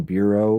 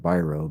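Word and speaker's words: Biro: So he hires Chuck, and a lot of people pronounce his name Bureau, but it really is pronounced Byro because I've read a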